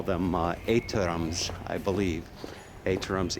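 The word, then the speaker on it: étterem: Étterams, E-T-T-E-R-E-M, I believe is the pronunciation.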